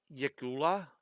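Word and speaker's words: yklwa: It's a uh Yakula. That's how they seem to pronounce it here.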